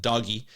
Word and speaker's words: DOGE: But he pronounces it doggy, and don't let anyone tell you otherwise.